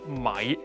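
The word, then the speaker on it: 米: Let me teach you how rice is pronounced in Mandarin. Mi. In Cantonese, it's mai.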